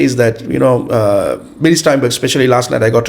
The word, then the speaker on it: Billy Steinberg: So he knows people like Billy Steinberg. Yeah, Did I pronounce his name properly?